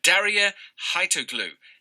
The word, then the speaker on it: Darya Haitoglou: Daria Haitoglu is here.